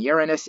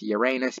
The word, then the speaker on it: Uranus: original name of the God who knows and Uranus is the preferred pronunciation among astronomers with Uranus being an acceptable variant you Uranus has a